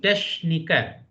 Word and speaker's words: Techniker: No, ich bin Techniker. After EICH is sir. So pronunciation should be Techniker.